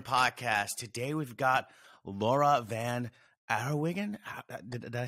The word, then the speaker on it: Van Den Herrewegen: the kids room podcast today we've got laura van arawigan did i say that right i might have butchered that a little bit yeah yeah yeah